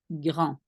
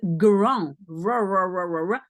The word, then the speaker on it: grand: That's why you pronounce it in your throat, but it's very soft. So it will more sound like grand.